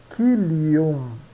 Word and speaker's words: concilium: Mas a gente pronuncia concilium, concilium, né? Então está dizendo aqui, ó, que o C se pronuncia sempre como K.